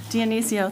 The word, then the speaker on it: Dionisio: Dionisio. Dionisio, thank you, to the Downtown Development Authority to the expired term of October 31st, 2023 to expire October 31st, 2027.